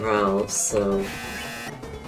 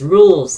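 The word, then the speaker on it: Rouxls: No, dainty scarf is bought from Ralph, so there is like no issue like there. Also, it's pronounced rules, not Ralphs.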